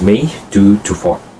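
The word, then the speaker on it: May 2-4: It is pronounced as May 2 to 4, also known as the Victoria Day.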